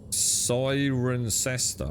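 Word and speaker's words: Cirencester: Sirencester. Oh, it is with the siren. So, Siren Cester.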